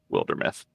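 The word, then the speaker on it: Wildermyth: my friends posed the question in it is pronounced wilder meth nice go buy it i'm going to go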